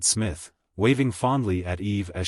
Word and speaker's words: Psmith: reveal to you is Smith the p is silent and until very recently